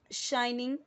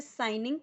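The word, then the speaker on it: shining: ऑन a bright शाइनिंग डे. अब इसे साइनिंग नहीं पढ़ना है.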